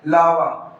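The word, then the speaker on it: larvae: तो इसका जो प्रोनंसिएशन होगा वो क्या होगा? करेक्ट प्रोनंसिएशन लावी।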